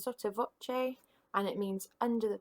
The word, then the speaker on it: sotto voce: We've still got our anacrusis, and we've also got this performance direction here, which we pronounce sotto voce, and it means under the voice or half voice.